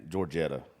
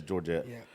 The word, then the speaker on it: Georgette: with Georgette Jones and Georgetta however the hell you say her name I always miss her name at it's Georgette and we've done a